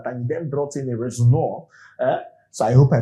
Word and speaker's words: Rosenior: work another time and then brought in a Rosenior. Uh so, I hope I pronounced that very well. Rosenior.